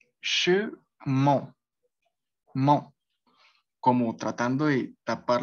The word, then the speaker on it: chemin: a sonar nasal y se tendría que decir chemin, chemin, mon, como tratando de tapar las fosas nasales y oh, oh.